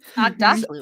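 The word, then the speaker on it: Aghdashloo: Agdashlu, right?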